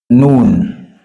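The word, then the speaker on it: ن: we have what we call noon this one noon noon you place your tongue at this soft part of your teeth up the upper teeth then we have what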